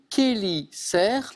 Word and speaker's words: chélicères: Ce sont les chélicères. Et ça s'écrit ch. Ça s'écrit CH, mais on dit les chélicères.